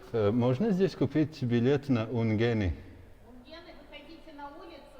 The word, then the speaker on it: Ungheni: And the good thing is I guessed how to pronounce the name. She said it the same way as me, Ungheni.